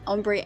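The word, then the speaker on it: ombré: Ombre techniques have been developed for a very long time. France is when the word ombre, pronounced ombre, comes from.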